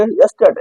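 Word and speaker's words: yesterday: यस्टरडे है यहां देखिए बीच में क्या है आर है तो इस आर का उच्चारण करेंगे नहीं करेंगे क्योंकि आर के बाद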